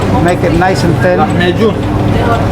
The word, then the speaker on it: Lahmacun: Lahmacun. How do you say it? Lahmacun? Lahmacun.